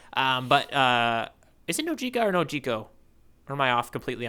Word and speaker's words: Nojiko: All right, Nojiko or Nohiko, depending if you're doing that for the J. Yeah, if you're doing the Spanish pronunciation of her name.